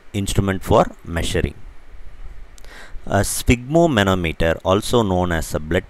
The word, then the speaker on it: sphygmomanometer: So the word is sphygmomanometer. I'll say it again, sphygmomanometer. The PH here should be pronounced as F, like in ophthalmologist, right?